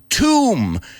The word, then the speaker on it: tomb: make a list of these words with silent bees like dumb lam tomb and practice saying them so you never make that mistake again and you never you never pronounce that B or you never call